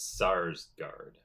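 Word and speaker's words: Skarsgård: Skarsgard is great I I think the K is silent I believe I think it's SARS guard oh SARS sorry that's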